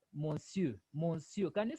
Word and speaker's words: monsieur: monsieur. No, R is silent. So you say monsieur.